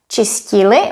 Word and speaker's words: čistili: If we wanted to write that, when you pronounce it, it sounds exactly the same. So this is only a matter of correct spelling.